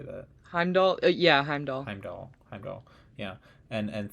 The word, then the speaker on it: Heimdall: Heimdall.